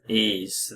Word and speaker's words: Ys: s it's y s so it's e e ease the vanishing Omens which is a Master System